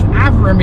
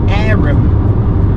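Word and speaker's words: Averham: I believe Averam is actually pronounced Aram.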